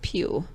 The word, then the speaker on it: Pugh: I feel like I'm going to say this name wrong. Florence Pugh? P-U-G-H? Mm-hmm. I think it's Pugh. Okay. I mean, Florence Pugh.